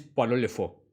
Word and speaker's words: Pierrot le Fou: Creo que para pronunciarlo bien es Poirot le Fou.